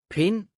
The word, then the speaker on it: Pind: Listen well so you will notice the silent D. Spand. Pind.